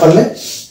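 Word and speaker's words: poor: যদি দেখতে পাই যে শব্দের শেষে আর আছে এবং তার আগে ভয়েল আছে, তাহলে আর কিন্তু উচ্চারণ করে না। ব্রিটিশ ইংলিশের ক্ষেত্রে আর কিন্তু মানে সাইলেন্ট থাকে। যেমন এটা হচ্ছে পু, এটা আর কে বাদ দিলে উচ্চারণ আসবে পু, কিন্তু আমেরিকান ইংলিশের ক্ষেত্রে এটা পুরো উচ্চারণ হয়, এটা হচ্ছে পুর।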